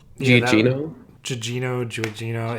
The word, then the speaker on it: Gugino: I know I'm going to pronounce this wrong. Yeah, that Gugino. Giugino. It's Gugino.